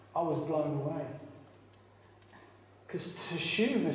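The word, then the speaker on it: תשובה: The Hebrew is teshuva.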